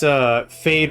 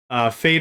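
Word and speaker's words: Feyd: I wonder if this is, Fade Rutha from Dune, if that's the reference to that. I doubt it. I doubt it highly, but that'd be interesting if that was. Fade Rutha is the Baron Vladimir Harkonnen is their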